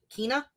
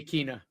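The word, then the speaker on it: Kena: It's Kina. I say her name wrong all the time. Yeah. I used to say Kina.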